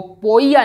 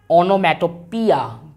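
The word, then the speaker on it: onomatopoeia: तो आप यहाँ पे ध्यान रखिए, ये जो ओ वर्ड है, पी के बाद जो ओ वर्ड है ये ओ साइलेंट होता है, और पी ओ ई आई ए इसको पोइया ना बोल के पिया, ऑनोमेटोपिया के नाम से जाना जाता है।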